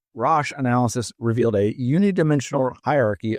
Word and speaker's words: Rasch: Roche, this is spelled RASCH, Roche analysis revealed a unidimensional hierarchy of 14 coherent items with strong internal consistency and minimal gender-related response bias.